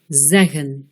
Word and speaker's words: zeggen: Dans un mot à deux syllabes, avec une voyelle suivie de deux consonnes, la première voyelle sera un E bref, zeggen.